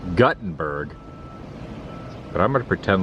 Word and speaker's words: Guttenberg: of Gutenberg truck and he said it's pronounced Guttenberg but I'm going to